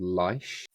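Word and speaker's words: Laish: So, I started a project about uh maybe about 15 years ago called Lish, which is spelled L A I S H.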